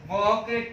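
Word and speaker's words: walk: इन शब्दों का यदि हम उच्चारण करते हैं तो उच्चारण करने के बाद में जो एल लिखा हुआ है, ये एल साइलेंट हो जाता है या फिर एल लुप्त हो जाता है।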